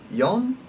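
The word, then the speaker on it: よん: at is four now four is a little different because it has two different pronunciations yon and she she is considered bad luck because it's very close to the Chinese pronunciation of death so we use yon more than we use she a lot of the time unless you're being told otherwise Y is written as such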